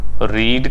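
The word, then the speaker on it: read: So will Suman have, रीड का third form रेड, spelling same.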